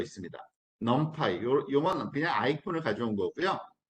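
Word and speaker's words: NumPy: 반드시 또 참 좋은게 있어요 놈파이라는 거 있습니다 넌파이 요만은 그냥 아이폰을 가져온 거고요 넌파이라고 읽어요 nempy 그리고 펜다스라는 또 아이콘 요것도 있고요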